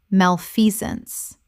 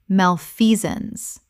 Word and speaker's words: malfeasance: hegemony hegemony Word 159, malfeasance common mispronunciation malfeasance Correct pronunciation, malfeasance Three syllables with the stress on the second. The sance collapses to zuns.